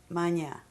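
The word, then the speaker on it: Mania: UM was your given name at Birth Mana shall I spell it yeah go ahead m a n i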